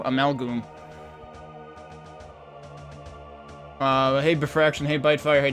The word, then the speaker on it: Amalgoom: Is Amalgoom pronounced with a long O? That's how I pronounce it, because it's Amalgam plus Doom, so Amalgoom.